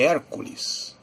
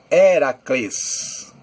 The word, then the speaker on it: Heracles: Aliás, a palavra Hércules, o nome Hércules, não era assim que era pronunciado. Na verdade, Heracles. Hércules seria um nome que foi colocado pelo povo que estava dominando naquela época, que eram os romanos. Então, no latim, Hércules. No grego, Heracles.